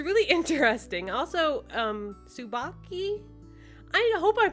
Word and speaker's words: Tsubaki: Also, Tsubaki, I hope I'm pronouncing that right. It's TSU at the beginning. I'm pretty sure that's just pronounced Sue. Like Sue, like that I think that's how it's pronounced.